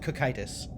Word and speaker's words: Cocytus: The Greek word it's based off of has a hard K, so I'm going to go with cocytus.